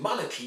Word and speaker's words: monarchy: In monarchy you need to stress on the first syllable, monarchy. And once you do that, well then, you hardly hear the R. For instance, it's not monarchy, no, it's monarchy. Meaning that you don't hear the R sound at all, in a way.